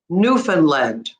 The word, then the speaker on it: Newfoundland: But the right way is you stress on the new. Newfoundland, Newfoundland, Newfoundland.